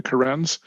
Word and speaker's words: Karens: when you spell it it looks like the name karen like a woman's name karen but they're called the karens they claim to have